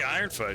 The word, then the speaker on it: Ironfoot: Is it Skeg Ironfoot or Ironfor? What is it? It is Skeg Ironfoot, yeah. You say it correctly, Mandion Gelden.